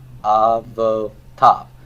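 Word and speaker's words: אבותיו: This yod is silent. Okay? So it's not aiv, but av. Avotav.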